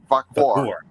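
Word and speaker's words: Vaquer: How do you pronounce her name? Vacour.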